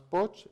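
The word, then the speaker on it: Pogge: Tiene una obra, Thomas Poch, se escribe el apellido P-O-G-G-E, que se llama La pobreza en el mundo y los derechos humanos.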